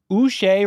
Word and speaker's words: Uche: They traded for Joshua Uche, rhymes with Boucher.